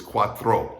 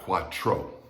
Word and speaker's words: cuatro: throw it's uh the tr in spanish sounds like that so it's cuatro not quatro okay all right single